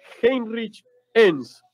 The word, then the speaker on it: Heinrich Enns: Tanto el nombre y el apellido vienen de una descendencia alemana, por parte de la familia paterna.